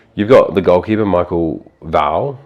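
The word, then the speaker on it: Woud: Like, you've got the goalkeeper, Michael Val. We always thought it was Wood. W-O-U-D. I thought, yeah. But it's Val. Michael Val. According to his well, we're going to go where he pronounces it as.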